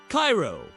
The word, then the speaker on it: Cairo: Cairo, pronounced Cairo by locals, sits at the dramatic confluence of the Mississippi and Ohio rivers.